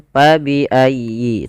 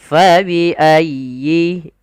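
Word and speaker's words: فبأي: dengan huruf Pa jangan pa biayi tapi Fa dialirkan nafasnya karena huruf Fa memiliki Salah satu sifat yaitu sifat hamus artinya mengalir Nya Nafas kita maka Fa faiayyi kemudian dilfal huruf ya ya bertasdid itu ada lembut di dalam pelafalnya tekan ayyi faiayyi dan sempurnakan kasrah pada huruf ynya jangan Fa tidak disempurnakan kasrahnya kita harus menyempurnakan daripada bunyi kasrahnya fabiayi FA pada lafal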